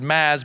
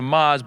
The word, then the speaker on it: Maz: You Marisa thank you you mispronounced my first name you said maths but then you correct it to Maz but then you gave up and went with mister Jobrani so I appreciate that